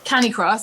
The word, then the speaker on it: Canicross: Okay, so Canicross, I'll correct you. Sorry about that because it's pronounced Canicross, even though it's spelled kind of Cani-cross.